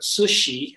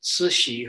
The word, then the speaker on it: Cixi: rest of the dynasty the Empress Dowager at sushi it's a hard name to pronounce but that's how Cixi is pronounced sushi her Manchu name was yellow Nala last slide